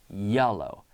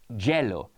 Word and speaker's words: yellow: the word yellow Amar yellow yellow we don't say jello jello no yellow Jello would beaa Jello